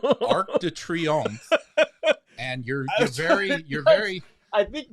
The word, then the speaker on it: Arc de Triomphe: They're not experiencing what will soon be the new year in front of the Turc Triomphant. How do you say that? Arc de Triomphe.